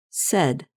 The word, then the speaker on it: said: And notice that the past tense of say is pronounced said. You can remember this pronunciation by thinking of words that rhyme with said, such as red and head.